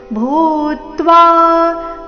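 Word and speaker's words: भूत्वा: ಜಾಯತೆ ಮ್ರಿಯತೆವಾ ಕದಾಚಿನ್ ನಾಯಂ ಭೂತ್ವ ಭೂ ಮಹಾಪ್ರಾಣ ದೀರ್ಘ ಅದರ ಮೇಲೆ ಆಘಾತ ಭೂತ್ವ ಭವಿತಾವಾನ ಭೂಯಹ ಅಜೋ ನಿತ್ಯ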